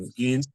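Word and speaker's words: Skenes: How do you pronounce his name? Um, Skeens.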